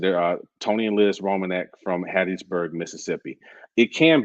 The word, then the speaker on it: Reimonenq: Tony and Liz Romanek. Their last name is spelled Reimonenq. And like I said, they're Tony and Liz Romanek from Hattiesburg, Mississippi.